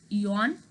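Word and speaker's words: aeon: A is silent, so it's eon.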